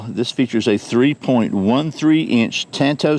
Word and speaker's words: tanto: features a 3.13 inch tanto style blade or tonto depending on your pronunciation a 0.12 inch thick